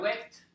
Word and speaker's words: waked: And this one doesn't have two syllables. It has only one syllable.